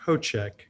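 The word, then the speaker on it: Hocek: name is and my last name is pronounced ho check h-o-c-e-k thank you you're welcome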